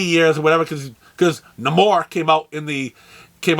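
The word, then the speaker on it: Namor: years or 80 years or whatever because because no more came out in the came out in the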